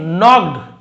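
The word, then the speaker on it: knocked: one evening, एक शाम, Salem नॉक्ड eight Abraham's door, तो सलेम ने नॉक्ड यानी खटखटाया, तो यहाँ पे के साइलेंट है, के एन यदि एक साथ आपको दिखे तो के साइलेंट होता है, ज़्यादातर आप देखेंगे, जैसे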